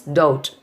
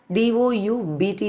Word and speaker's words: doubt: Next one is doubt. D-O-U-B-T is the spelling. We are pronouncing as doubt.